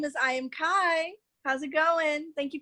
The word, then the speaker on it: EYEAMKI: absolutely i am kai now you spell that i i mean e-y-e a-m-k-i right yes e-y-e a-m-k-i because i see everything baby let's go okay